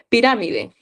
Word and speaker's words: pirámide: Pirámide. Ni la pensó. Ah, excelente, Rut. Ya está, Rut. ¿Dónde estaba Rut? Excelente. Piramide está en la antepenúltima, entonces sería esdújula y está tildada.